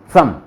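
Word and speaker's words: zum: वो यही था, सम, कि तय बोलने की पोजीशन पे ले जाओ, हल्का सा तय निकाल के से बोल दो, सम। तो इसको बोलेंगे सुम, सुम।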